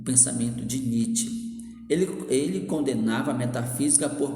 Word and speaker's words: Nietzsche: Se pronuncia Nietzsche, tá bom?